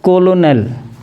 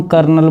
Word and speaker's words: colonel: Next है 22 number कर्नल का जो स्पेलिंग होता है वो होता है कोलोनेल, COLONEL। अब कोलोनेल को हम कर्नल बोलते हैं।